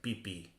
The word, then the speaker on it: Pepe: Yeah, the Spanish way of pronouncing Pepe sounds like pipi.